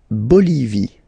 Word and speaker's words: Bolivie: La Bolivie. Okay, final E not pronounced.